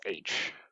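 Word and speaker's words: Aech: arch is like H so the book gets spelled a e CH pronounces age yeah kind of hard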